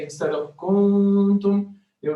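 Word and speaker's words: كنتم: For example, if I select this one, here, the way I will pronounce it is kuntum, kuntum, okay? But some mistakes in recitation will tend to lengthen the vowel here instead of making the nun long. They will not say kuntum, they will say kuntum.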